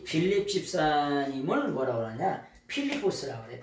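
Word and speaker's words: Φίλιππος: 필리포스라고 그래. 필리포스. 이 필리포스라고 하는 말이 뭐냐? 빌립의 원래 발음은 필리포스예요.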